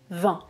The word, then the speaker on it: vin: et je ne prononce pas le T 20 20 même prononciation exactement ensuite on continue il parie qu'il